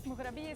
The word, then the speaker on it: Mughrabiya: This is the famous mughrabiya sandwich in Tripoli. How do you say it? Mughrabiya.